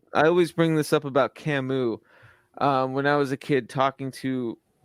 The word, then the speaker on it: Camus: That's just how I read it, was Camus. And I got so shamed. It's Camus.